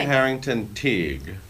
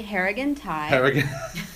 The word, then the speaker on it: Harrigan Tighe: Billy Harrington Teague. Billy Harrigan Tighe. Harrigan. There's another option.